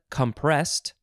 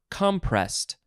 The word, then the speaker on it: compressed: Next is compressed or compressed. So we've added an ED, and you can emphasize the first or the second syllable.